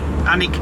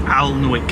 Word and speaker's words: Alnwick: our destination today is Alik Castle is that how you spell it no anik Castle y we've always called The alwick Castle cuz that's how it's spelled people part of the N the anik anic Castle so that's where we're